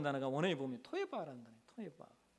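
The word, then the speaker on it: תועבה: 토에바. 이 토에바라는 발음이요. 이 토에바라는 뜻의 한국말 한국 뜻과 이게 발음이 비슷해요. 우리가 여러분 어떤 더러운 것이나 혹은 혐오스러운 것을 보면 그런데 토한다고 하잖아요. 토할 것 같아.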